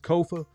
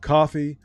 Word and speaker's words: Kofa: I am your host, Kofa, K-O-F-A, not coffee, not kufu, not Kofi, or any variation thereof. Kofa rhymes with sofa.